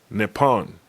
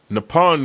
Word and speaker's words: Nippon: Now, the English word for Japan derives from the Chinese pronunciation of the Japanese name pronounced Nippon. Nippon means sun origin and are often translated as land of the rising sun.